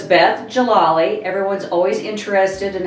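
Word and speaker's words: Djalali: for years but it's Jalali the D is silent so here's a little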